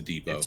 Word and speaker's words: Depot: that you yeah the the te is silent it's a Depot Depot Depot thank you no